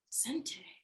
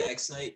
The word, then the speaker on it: x.nte: I still can't pronounce X. Zente or x.nte. Sente? Yeah. Sente. Okay, I like that. Yeah. Okay, elevation. Kind of pronounce how it looks. Yeah, a little bit. Yeah. People say X-Night too, which is.